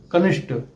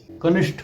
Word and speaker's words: कनिष्ठ: की जरूरत नहीं है कुछ शब्दों के अंत में ट और ठ के उच्चारण में भी अक्सर गलतियां मिलती हैं कनिष्ठ वरिष्ठ बलिष्ठ कुष्ठ आदि शब्द गलत है इन शब्दों में ट की जगह ठ का प्रयोग करना चाहिए कनिष्ठ वरिष्ठ बलिष्ठ सही शब्द